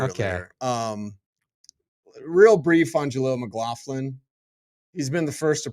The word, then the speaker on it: McLaughlin: Jaleel McLaughlin. Jaleel McLaughlin. No G. It rolls off the tongue. Soft G. No G.